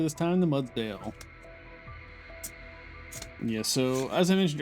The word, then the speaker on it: Mudsdale: A little Shaman again, and I'll say it correctly this time, the Mudsdale.